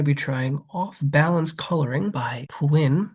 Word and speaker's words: Pwinn: Today I'm going to be trying Off-Balance Coloring by Pwinn, rhymes with Quinn.